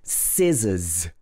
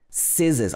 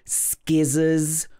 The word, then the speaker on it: scissors: Number two is scissors. Scissors. A lot of learners will pronounce this like skizzers or skissers, but it should be scissors.